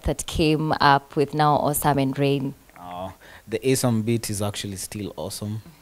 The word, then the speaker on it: ASUM: All right, guys, I had to ask how he pronounces his name. You said ASUM. It's ASUM, yes.